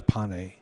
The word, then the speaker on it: Pane: do do you prefer going by pay or or P Pye right well the the the proper pronunciation is pan pan but um P just got tired of